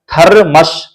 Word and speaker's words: थरमस: जैसे कि यहां पे देख सकते हैं थर मस थर। र जो है ना पूरा थ जैसे उच्चारण कर रहे है उसी र का उच्चारण नहीं हो रहा है तो थ र मस हो जाता मगर थर मस होता है थर मश थरमस थरमस आधा र का उच्चारण आधा म का और जब हम ये